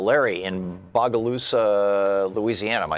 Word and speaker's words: Bogalusa: Larry in Bogalusa, Louisiana. Am I saying it right, Larry? Bogalusa?